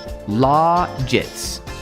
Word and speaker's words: logits: Use the soft G sound. Uh, rhymes with the word like gadgets, logets, widgets, logits, logits, logets, logets.